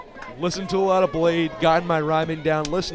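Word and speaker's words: Bladee: to a lot of Blade gotten my rhyming down listen to ice dancer 2018 LP by artist blade b-l-a-d-e-e the second e is silent or the first one who knows you're back to back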